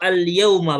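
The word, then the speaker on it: اليَوْمَ: Sadis, dimazal mudarrisu dimazal mudarrisun ghadbanul yaum Itu al-yauma bacanya.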